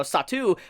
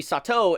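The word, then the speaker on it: Satou: fact that they have been mispronouncing his name and calling me no satu but it's actually Sato instead of you know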